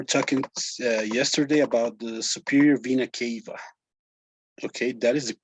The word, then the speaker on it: superior vena cava: here we were talking uh yesterday about the superior vena cava okay that is the pronunciation superior vena cava that well do you know what the superior